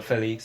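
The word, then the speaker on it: Félix: Well, Felix, that's how it's pronounced.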